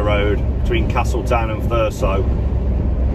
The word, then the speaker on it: Thurso: between Castle town and thurso or as the locals say fur so planted with a zed